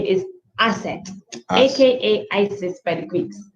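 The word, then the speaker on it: Aset: the wife's name is asset aka isis by the greeks right so his wife's name is asset and and she was a very good asset to him assets i believe is the right pronunciation also known as isis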